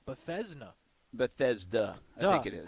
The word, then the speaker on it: Bethesda: maxing out but like bethesda bethesda i think it is how you spell that b-e-t-h-e-s-d-a there's no z no but it's kind of bethesda you know like there's instead of this duh oh i think okay